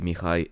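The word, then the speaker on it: Mihai: So, Emperor Caesar will be Chzar, Stefan will be Stefan, Michael will be Mikhai and so on.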